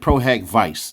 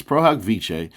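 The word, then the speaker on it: pro hac vice: something like that and she said proh vice. No darling, it's prohiche is a Latin phrase meaning for this occasion.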